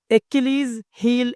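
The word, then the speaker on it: Achilles' heel: ഇനി number 4, എക്കിലീസ് ഹീൽ. ഉച്ചാരണം ശ്രദ്ധിക്കുക. എക്കിലീസ് ഹീൽ എന്നാണ്.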